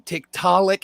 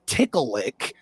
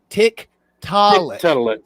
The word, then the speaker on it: Tiktaalik: It's not potato, tomato between Tiktaalik and Tickleick. Tickleick is nothing. Tiktaalik. Tiktaalik.